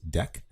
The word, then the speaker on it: deque: actually says it's pronounced deck i know it doesn't say that here but if you go to the python documentation it says that and think of it kind of like a deck of cards it's like an optimized